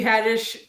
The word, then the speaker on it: Haddish: i was just like tiffany haddish rhymes with radish and so i made